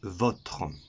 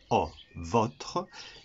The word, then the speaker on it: votre: Le premier, c'est votre. On prononcera le O, votre.